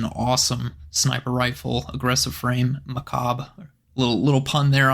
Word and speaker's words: Macabre: which is an awesome sniper rifle aggressive frame Macabre a little little pun there on a fun word I'm sure a lot of people have probably been mispronouncing that but yes it is pronounced mechab so uh very funny we actually we need